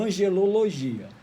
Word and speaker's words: angelologia: Então, a angeologia ou angelologia tem duas pronúncias, angeologia ou angelologia.